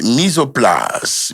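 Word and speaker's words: mise en place: Uh, it says mis is pronounced misoplas. Misoplas is a French phrase where mi sounds like mis and plas is pronounced plas.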